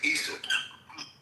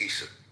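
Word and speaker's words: عيسى: Well, they pronounce it Issa. The Muslims pronounce it as Isa, not Esau. It's Issa.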